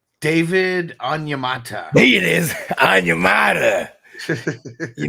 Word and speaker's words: Onyemata: I can't pronounce his name. It was one of them guys. It's David Onyemata.